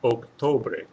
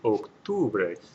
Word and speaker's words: octubre: So that would be pronounced octobre, octobre, which does not sound right. It should be octubre with an U sound in there, and the U, of course, is a U in Spanish.